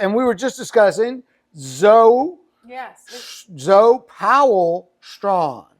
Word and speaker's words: Zoe: And it's spelled Zoe, like Joe, like my dad's name, Joe.